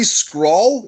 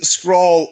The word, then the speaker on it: Scurll: Is it Marty Scurll? Is that Yep. how I pronounce it? Yep. Marty Scroll.